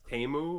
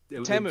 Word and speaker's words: Temu: Oh, and apparently I- it's pronounced Temu or. Temu. It said Temu. No, it's Temu to me.